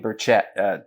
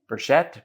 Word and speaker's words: Burchett: you know you've got Mark Warner and Tim burchett Tim Burchette Burchette I've never know how to pronounce his name I'll accept either pronunciation but